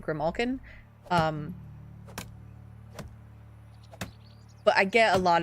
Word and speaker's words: Grimalkin: say mispronounce because, like, there is a way that I pronounce it, and I pronounce it Grimalkin, but I get a